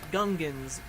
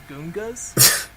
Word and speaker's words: Gungan: Because in the movie they pronounce it Gungans, but I guess George Lucas pronounced it Goongas.